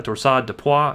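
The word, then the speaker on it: torsade de pointes: as qt prolongation and torsades the points or just a torsade de pois if you wanted to be a little bit more fancy and pronounce it like the french do but what we're going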